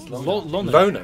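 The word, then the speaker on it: Lohner: How do you pronounce Francis Sonic? Lona, right?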